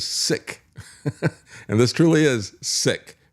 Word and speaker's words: PSIC: I guess this could be the PSIC. That'd just be pronounced as sick.